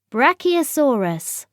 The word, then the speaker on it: Brachiosaurus: than its back legs how do you say it brachiosaurus say brac e o saw us in the forest